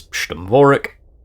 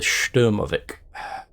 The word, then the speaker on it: Sturmovik: Speaking of heavy armor bombers, Sturmvorek, or I should say the Sturmovik, which I'm very bad at the pronunciation, but the Sturmovik is still with us and is still really good.